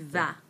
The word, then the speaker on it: vas: Tu vas. Tu vas. Notice there's an S on the end here, but again, silent. Tu vas.